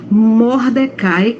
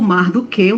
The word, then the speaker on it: Mordecai: tinha um primo chamado Mordecai ou mardoqueu né são as duas As duas pronúncias estão certas Então ela foi cuidada